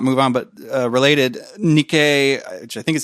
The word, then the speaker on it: Nikkei: there was or not move on but related Nikkei I think is how you pronounce that a Japanese outlet had some leaked